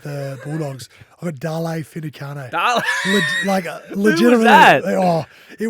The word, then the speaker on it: Finucane: Finucane's the right way to say it.